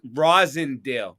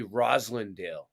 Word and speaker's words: Roslindale: we call it Verizon rossindale Rising how far are you from Chicopee spelled with an L so that's weird why would everybody call it Roslindale but it's really Roslindale oh oh because they're